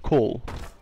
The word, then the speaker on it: Cormgall: My first name is pronounced Cole. Cole. What? But it says Cormgall. Well, it's pronounced okay, Cole.